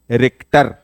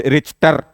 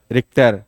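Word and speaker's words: Richter: okay so this ज रिक्टर हाउ ल pronounce not रिटर this इ रिक्टर नॉट रिसर शर एंड the range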